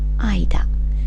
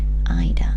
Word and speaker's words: 間: final Kani on this page means between it's pronounced for our purposes the Kun reading the kunyomi Ida Ida and again it's linked to a location with